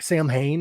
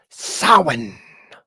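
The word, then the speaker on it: Samhain: medal so many people pronounce it wrong they pronounce it like Sam Hayne I think is how a lot of people pronounce it which is in correct it is sin there's actually a band called sin it's um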